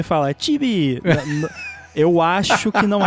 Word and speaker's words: Chibi: Muito bem, o Chibi Studio se escreve Chibi, C-H-I-B-I, Chibi, que significa pessoa pequena em japonês.